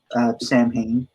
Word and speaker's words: Samhain: Yeah, I unfortunately am not well versed in the history of Samhain or Samhain, right? Samhain is thought to be the more proper pronunciation, yes, because the Celtic spelling structure was